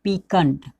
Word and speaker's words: piquant: PIQUANT, पीकंट।